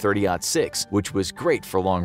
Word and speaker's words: .30-06: This put into serious question the need for a traditional heavy rifle round such as the .30-06 (pronounced thirty “aught” six), which was great for